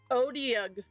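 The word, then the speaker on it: Otyugh: Odiug is how to say it.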